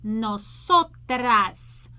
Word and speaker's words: nosotras: Open your mouth on ah, nosotras, nosotras.